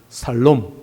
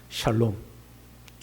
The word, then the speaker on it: 샬롬: 살롬. 그래도 다행이죠. 죽을 놈이 아니고 샬롬했으니까. 샬롬.이 이샬롬입니다.이 샬롬이 온내를 통하여 40년 동안 그 땅에 임했습니다.